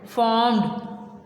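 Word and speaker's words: formed: Next है फॉर्म्ड, इसमें आर की आवाज़ ना होने के बराबर होगी। फॉर्म्ड, फॉर्म्ड, लेकिन आर आपने राइट करना है, वैसे बोलने में साइलेंट आ रहा है।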